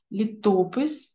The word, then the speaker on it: літопис: другий склад ненавистю і у слові літопис так само бачимо виділену літеру неправильно для наголошування літопис наголошений правильно наголошувати другий склад У такий спосіб ми